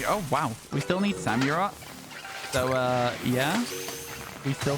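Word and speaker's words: Samurott: mag samur I I feel like it should be samur because it's Samurai um but I say samura I don't know why I say it like that it's weird where you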